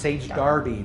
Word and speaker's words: Sage Derby: is called sage darby it is spelled sage derby but it's pronounced sage darby this is actually an